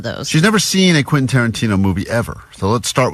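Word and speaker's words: Quentin Tarantino: Vanessa has never seen a Quinton Tarantino movie and she's never successfully pronounced Quinton Tarantino. That's true. All week as she's been talking about this prize we have. She's been saying quasa quaintonqanana. So quint.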